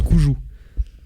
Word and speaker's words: Cuju: Et d'ailleurs, en parlant de choses rétro, je vais vous demander qu'est-ce que le Cuju. Alors, à tout moment, ça se prononce Coujou.